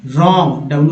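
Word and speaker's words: wrong: परिवार it will be रोंग वर को बोलते हैं व को अच्छा नहीं होता सिर्फ आर का उच्चारण लेकिन लिखेंगे जरूर पढ़ेंगे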